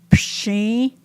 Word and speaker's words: Pshi: Pshi, which is onions. Psi, which is rice. Pshi has the SH sound, whereas psi is just the S.